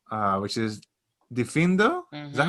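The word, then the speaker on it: Diffindo: move to the next spell uh which is difindo is that how you say it yes and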